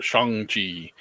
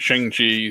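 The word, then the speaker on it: Shang-Chi: they're trying to be politically correct and caught shangji but it's been pronounced shang chi since it's origination i'm going to keep calling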